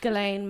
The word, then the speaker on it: Ghislaine: Ghislaine Maxwell.